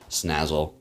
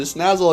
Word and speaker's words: Salazzle: We're going to bring in Salazzle. Wow, I called it Snazzle again. I'm doing it again. See, I get into the routine of saying it correctly, and then I go back to my old ways.